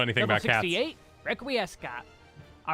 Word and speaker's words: Requiescat: Level 68, Requiescat. All right, now we can use Holy... Are you serious? Requiesca? So you don't pronounce the T? Are we back? Is it French again? Is this French?